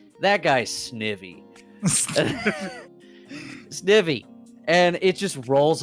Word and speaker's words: Snivy: Snivy. Yeah, Snivy, right?